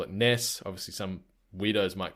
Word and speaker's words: NES: the answer in quotes Ness with almost like an emphasis on the S so it's n e